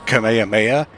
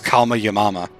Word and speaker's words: Kamehameha: Dragon Ball mispronouncing the Kamehameha and I think he pronounced it as Kama yamama or something like that laughs but I think